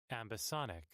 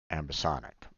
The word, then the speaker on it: ambisonic: to pronounce that because ambisonic ambisonic okay that's that's how Oxford languages says it okay ambisonic gotcha